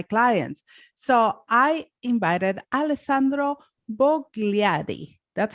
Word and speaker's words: Bogliari: So I invited Alessandro Bogliari. That's how you say it? Almost. Okay, just tell it to me with the Italian accent. I need to hear that. Alessandro Bogliari.